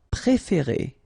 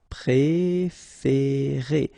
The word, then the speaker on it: préférer: Préférer. Okay, here accent aigu, so E, accent aigu, the same one, E as well, okay. Préférer.